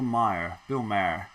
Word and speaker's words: Maher: The interview with former Trump campaign chief Steve Bannon on, I believe it's pronounced Bill Maher, yes.